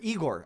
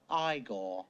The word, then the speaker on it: Igor: or Igor in particular, I should quit saying Igor. I only say Igor because of the stupid fucking Young Frankenstein movie. No, it's pronounced Igor.